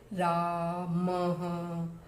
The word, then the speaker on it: रामः: विसर्ग का जो उच्चारण है जैसे रामः, तो विसर्ग की भी आवाज आ रही है ह के रूप में और अ की आवाज आ रही है रामः।